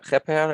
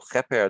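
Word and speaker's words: kheper: so it it's pronounced repair and here is an r that helps us to pronounce this triliteral so heper the word means appearance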